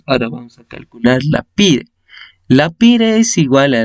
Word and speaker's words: PIRE: Ahora, la PIRE se puede pronunciar como ERIP, a lo inverso, sería APIR. Esa sigla está en inglés, pero mayormente se pronuncia como PIRE.